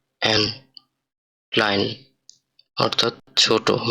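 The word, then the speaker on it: klein: এরপরে পরে আমরা দেখতেছি ওয়ার্ডটা আছে কা দিয়ে, ওয়ার্ড এটা ক্লাইন অর্থ ছোট বা স্মল। এটার উচ্চারণটা হবে কা এল এ ই এন, ক্লাইন অর্থাৎ ছোট বা স্মল।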